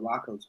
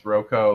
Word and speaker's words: Roko: and we're going to be talking about Rocco's Basilisk, supply management. All Roko. I mispronounced it last time. It's Roko, like Rococo.